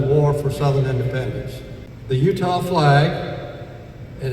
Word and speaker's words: Eutaw: The Utah flag, and it's named for the Battle of